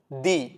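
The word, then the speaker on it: die: നിങ്ങൾ ഇത്ര ആലോചിച്ചാൽ മതി ഈ ഒരു വാക്ക് കാണുന്ന സമയത്ത് ഈ വീഡിയോ കാണുന്ന ആരും വായിച്ചിട്ടുണ്ടാവുക ഡൈ എന്നായിരിക്കും പക്ഷേ ജർമനിൽ അത് വായിക്കുന്നത് ദി ദി എന്നാണ് വായിക്കുക കാരണം ജർമൻ ലാംഗ്വേജിൽ ഐ ഇ എന്ന് പറയുന്ന ആൽഫബെറ്റ് വന്നു കഴിഞ്ഞാൽ അത് ഉച്ചരിക്കുന്നത് ഇ എന്നാണ് സോ അത് ഡൈ എന്നല്ല ജർമനിൽ വായിക്കുക ദി ദി എന്നായിരിക്കും വായിക്കുക സെയിം പോലെ നെക്സ്റ്റ് ഞാൻ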